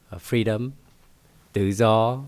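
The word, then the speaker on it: Tự Do: a a street name freedom daw is the way it's pronounced with a t u and I would have the diritical marks to make it uh culturally relevant. There's a u with a hook on top and a period below. their diitical marks to pronounce the word the zah which is a soft d sound and spelled perfectly just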